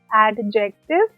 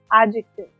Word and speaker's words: adjective: We do not call it adjective. The pronunciation of this topic is adjective.